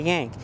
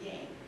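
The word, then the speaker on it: Yahnke: remember our name being Yank. It's Y-A-H-N-K-E, but Yank.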